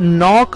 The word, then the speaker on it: know: उसमें पहला वर्ड है KNOW, नो, है ना। इसमें के साइलेंट होता है, इसे नो पढ़ते हैं।